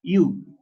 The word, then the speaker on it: eu: Nada más que se pronuncia iu.